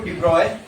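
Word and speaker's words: de Broglie: According to डिब्रॉय, next उसी theory में लिखो। अकॉर्डिंग टू डिब्रॉय, अकॉर्डिंग टू डिब्रॉय, डिब्रॉय की स्पेलिंग आती है ना, DROGLIE। लिखने में उसको ब्रोगली लिखते हैं, तो बोलते हैं ब्रॉय है।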